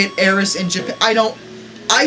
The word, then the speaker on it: Aerith: The funny part is that neither pronunciation is technically wrong in a sense. It's just a translation issue, because according to my research, they pronounce it Aerith in Japanese, but when you translate it to English, it's supposed to be Aerith, because they're trying to say, a take on the word Earth, sort of, but they say it Aerith in Japan.